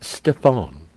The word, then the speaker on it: Stephen: regular guy he's cool it's pronounced Stefan nice Jill was cracking